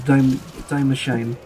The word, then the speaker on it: Die Maschine: 90% has been to Die Maschine. yes, the American pronunciation, not the German one.